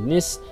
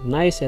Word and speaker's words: Nice: di Prancis yang namanya Niss dan juga sekitarnya. Meskipun tulisannya sama dengan tulisan bahasa Inggris, tapi cara bacanya bukan nice ya, Teman-teman. melainkan Nis.